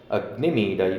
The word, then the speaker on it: अग्निमीळे: तो उसने पूरा उच्चारण करके हमें बताया, अग्निमीडई पुरौहितं यज्ञस्य।